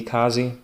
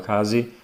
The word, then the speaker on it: Kesi: number two, would be Kazi. Her name is spelled Kesi, but I've noticed the contestants call her Kazi, so that's what I'll go with.